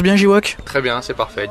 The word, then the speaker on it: Jiwok: Je prononce bien J-Walk? Très bien, c'est parfait, J-Walk.